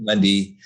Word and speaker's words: Mundy: Like, they used to always say Monday, and I'm like, there's no A in my last name.